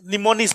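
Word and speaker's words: mnemonics: निमोनिक्स में एम क्या रहेगा? साइलेंट।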